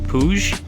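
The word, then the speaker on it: Puig: foot pegs from and I believe it's pronounced puj p ui g.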